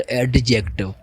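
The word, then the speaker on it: adjective: First of ऑल आपको क्या है कि ए एंड जे इसके ये जो वर्ड है और इसके बीच में जब डी आता है वो डी साइलेंट होता है। इसको हम कैसे प्रोनाउंस प्रोनाउंस करेंगे? एडजेक्ट नॉट एडजेक्टिव।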